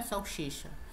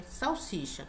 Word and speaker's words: salsicha: comer pão com salsicha a pronúncia não é salsicha É salsicha todo mundo sabe disso